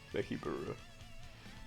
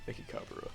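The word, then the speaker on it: Mechikabura: Mekibura. Mekikabura, that's what it is.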